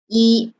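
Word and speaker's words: 一: the information right because number one in mandarin the pronunciation is e so number one we read as e then number seven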